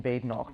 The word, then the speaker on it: Badenoch: I always tell them there is no bad in Badenoch, but it still doesn't seem to stick.